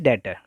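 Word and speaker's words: debtor: Pronunciation उसका डेटर होता है, बहुत सारी जगह पे इसको डेप्टर की तरह ही बोला जाता है, बट the right pronunciation is डेटर।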